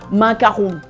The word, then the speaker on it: macaron: Say macaron with one O. So we could do not mistake. It's not 2 O, it's just only one macaron. So I know for American people, it's hard, the R, coming from higher, but it would spell it as, macaron. But the R is kind of hard, I know.